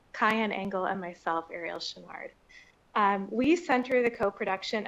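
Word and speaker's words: Choinard: My name is Arielle Shinnard last name is spelled c h o i n a r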